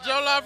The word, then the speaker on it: jollof: It's jollof rice, nigga.